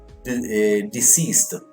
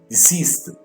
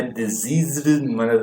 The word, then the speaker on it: deceased: Ou eu posso ter esse late como dead, ou como deceased. Pronunciar essa palavra aqui interessante, muito legal. Deceased, tá? Então não é diseased, até falei errado antes, né? É deceased. Tá?